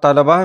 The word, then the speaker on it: طلبا: لام پر زبر ہے، اور طلباء میں تو پر زبر ہے اور لام پر بھی زبر ہے، لیکن اکثر لوگ طلباء یا طلبہ پڑھ دیتے ہیں جس سے تلفظ غلط ہو جاتا ہے۔ تو طالب کی جمع